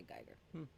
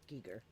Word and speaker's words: Giger: It was literally designed by Geiger, which is cool, or Giger, I guess if you want to say it properly.